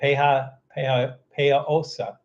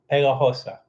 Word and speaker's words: pegajosa: I guess the G is silent. So it's that pejajosa. Mezcla pegajosa.